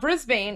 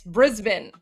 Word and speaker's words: Brisbane: Oh, apparently Armen, I just learned it's not Brisbane, it's Brisbane.